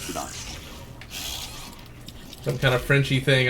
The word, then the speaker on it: boudin: And it's spelled Boudin, but it's pronounced Boudin.